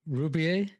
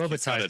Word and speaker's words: Robitaille: Rubier? How do you say? Sorry, that's Pierre-Marie Robitaille, who's done all the work. Robitaille, sorry, Robitaille, yes.